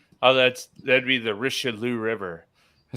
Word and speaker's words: Richelieu: that's that'd be the Richelieu River I said hey pronounce it so funny story my uh my mom's maiden name is Richelieu rikow and in France were part